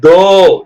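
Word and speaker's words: though: ஜி ஹெச் D delight தோ என்னங்க தோ தவ் இல்ல தோ டிச் ஓ யூ ஜிச்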